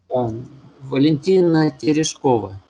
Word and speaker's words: Valentina Tereshkova: And can you pronounce her name again? Valentina Tereshkova.